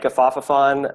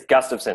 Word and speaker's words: Gustafson: I've had like Gafafafon my whole life, or Gustafson. It's Gustafson.